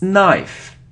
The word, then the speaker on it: knife: angel okay so next it isn't knife on if it's knife knife so we don't pronounce K so don't pronounce K if there is so this letter n after it's a knife knife like no no okay